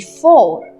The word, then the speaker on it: fort: Strong in French we say as fort, F-O-R-T, fort. Same is here. Now T is silent.